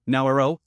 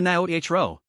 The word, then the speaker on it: Naoero: How the new name is pronounced depends in part on one's accent. British, Australian, and American English speakers variously pronounce it Nauru, Naoero, or Naoero.